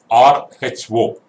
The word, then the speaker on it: rho: The symbol used to denote density is this symbol, rho, round P, R-H-O, pronounced as rho, written like round P, rho symbol.